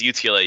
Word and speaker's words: UTLA: Yeah, so it is UTLA. You got it right. For a while, we were stuck between U of TLA and UTLA because obviously Texas, another